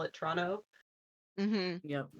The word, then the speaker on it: Toronto: kind of like in Ontario, Toronto, like only people from outside of Toronto pronounce the second T in Toronto, Yeah. like me, but people who are from there call it Toronto. Mm-hmm. Yep, Toronto.